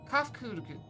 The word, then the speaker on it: Kafkudu: As for nomenclature to address my individual person, I believe it would be pronounced Kafkudu.